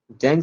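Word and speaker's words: Tzanck: ये एक Japanese word है, तो इसमें टी जो है ये साइलेंट रहेगा, टी को बोलना नहीं है, सिर्फ जैंग स्मीयर, ऐसा बोलिएगा कि जैंग स्मीयर।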